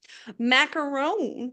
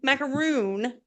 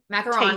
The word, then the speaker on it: macaron: Macaron. Macaroon. Macaron. You said it right the first time.